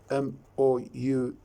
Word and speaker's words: mouth: See here in the word, for example, mouth, M-O-U-T-H, mouth. Now here the TH is pronounced as the.